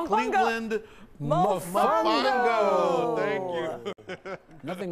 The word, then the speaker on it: Mofongo: You say Cleveland Mofongo.